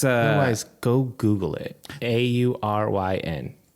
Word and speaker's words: Auryn: Auryn. It does help to spell it because it's not. it's not intuitive. It'd be like Orin. No, yeah. Auryn.